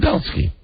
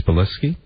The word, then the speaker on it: Belisky: I'm being joined by Belsky. Am I pronouncing that correct? I believe it's Belisky.